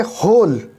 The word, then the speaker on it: whole: जैसे होल, WHOLE, लेकिन जब हम इसे पढ़ेंगे तो डब्लू की अलग से आवाज़ नहीं निकलती। वोल डब्लू को नहीं निकालेंगे, हम उससे आगे के शब्द को पढ़ेंगे, जैसे होल।